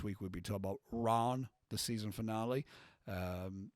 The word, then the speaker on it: Ran: we'll be talking about Ron the season finale um that's spelled r-a-n but it's not ran it's Ron um and um thank